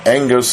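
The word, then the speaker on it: ἐγγύς: Now, engus is spelled E-G-G-U-S in Greek, but the double G in Greek is pronounced as N-G, like an angelos. It's called a nasal gamma for you Greek fans. And you're supposed to pronounce and transliterate it into English letters as NG.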